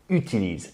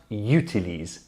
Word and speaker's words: utilise: First of all, utilise is pronounced u, utilise, and not utilise. In English we say use, utilize with that y sound at the start. In French, it's not the case.